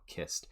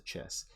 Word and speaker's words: Chiss: And I always tend to revert to that hard CH sound whenever I say, kissed.